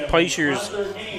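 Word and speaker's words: Pysher: In fact, there's Peichers buried in East Stroudsburg Cemetery, but it's spelled P-Y-S-H-E-R.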